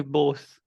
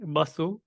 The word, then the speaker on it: Bose: And we say Bose. In English, it's spelled Bose. It's said Bose. In Bengali, you might say Basu, which you may or not know.